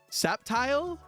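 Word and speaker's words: Sceptile: Septile. Is that how you pronounce it? I didn't know that. I always pronounce the C.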